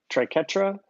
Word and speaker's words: triquetra: that's what it looks like trike UTRA trike triquetra triquetra and Jacky mum triquetra years thanks Jason